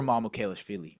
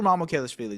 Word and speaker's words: Mamukelashvili: And by the way, someone said, "How do you guys pronounce Mamukelashvili?" Sandro Mamukelashvili. Respect me, man. I I can do it better than the broadcast can. Sandro Mamukelashvili. Sandro Mamukelashvili.